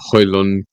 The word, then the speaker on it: Højlund: See how Højlund. Did you see the video? Højlund, how to pronounce Højlund's name? Silent D. Højlund.